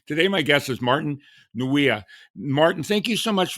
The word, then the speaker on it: Martin Nweeia: This is going to be a good one, and hopefully I'm going to pronounce his name right. Today, my guest is Martin Nweeia.